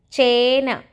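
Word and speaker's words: ചേന: Next is chena. Cha with the a symbol. It's a long sound letter. Che. Then na. Chena.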